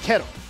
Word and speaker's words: K2RO: I pronounce it K2RO. K-E-R-O. Okay, got it. I have no idea if that's how it's supposed to be pronounced.